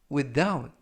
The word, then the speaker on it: without: 표현이 되겠습니다 2번 표현은 without without without라고 발음하시면 되겠고요 끝에 트 발음은 약하게 하셔도 상관이 없습니다 품사는 전치사 뜻은 뭐뭐 없이라고